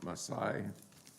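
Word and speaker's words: Masei: portion this week is uh called Maasai I think that's the way you pronounce it m-a-s-e-i is in English it's numbers 33 and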